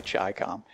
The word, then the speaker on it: Chicom: but I think the the way that you're supposed to pronounce it is actually chi-com and what that means